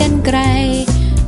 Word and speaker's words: กรรไกร: นร อง เสียว ก็ รอ หัน อ่าน ว่า กรรไกร กาลาลา อ่าน ว่า กรรไกร ไป ห้าง สรรพสินค้า